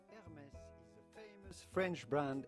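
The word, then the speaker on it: Hermès: will find at her Hermes is silent h at the beginning if you can't pronounce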